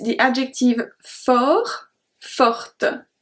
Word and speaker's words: fort: Numéro 6, the adjective fort, forte. So we don't pronounce the T on the first one.